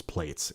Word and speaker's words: Plaits: I am adamant that it is Plaits in America.